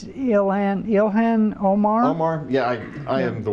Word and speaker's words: Ilhan Omar: All right, so Representative, oh God, how do you pronounce her name, John? I think it's Ilhan Omar.